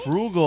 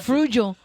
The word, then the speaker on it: frugal: that's what it is Frugal is how you say frugal frugal I said frugo always say frugo and no one corrected